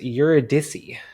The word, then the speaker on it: Eurydice: And I believe, based off Wikipedia, her name is pronounced Eurydice.